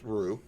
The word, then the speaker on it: Rue: Kevin Sullivan for a reason yes um Rue pronounced Rue thank you yes uh I was rig r